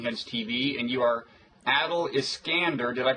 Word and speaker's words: Adel Iskandar: right blogging heads TV and you are Adil is skander did I pronounce that right absolutely perfectly okay and um